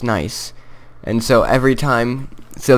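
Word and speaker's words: gneiss: Yeah, but he also added nice to it, G-N-E-I-S-S, which actually spells, it's pronounced nice.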